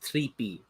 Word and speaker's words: Tripe: One of, I think he actually said it's pronounced Trippy. It confused me as well, but that's what he said. He says Trippy.